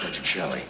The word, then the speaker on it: Petrocelli: be too expensive Mr petrielli it's um it's pronounced by Chelli oh uh Mr Daniels